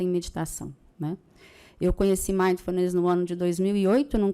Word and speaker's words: Mindfulness: é a primeira, que é uma palavra grande. Então, Mindfulness, né? E Mindfulness é uma prática baseada em meditação. Mindfulness não é meditação, é uma prática baseada em meditação, né? Eu conheci Mindfulness no ano de 2008,